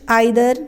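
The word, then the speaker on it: either: For example, each, आइदर, नाइदर। तो each हर एक, आइदर को ईदर भी प्रोनाउंस करते हैं, नाइदर को नीदर भी प्रोनाउंस कर सकते हैं।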